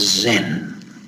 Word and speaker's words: Zen: it was pronounced as Zen Zen is the Japanese pronunciation of the Korean pronunciation of the Chinese pronunciation of Diana my interest if you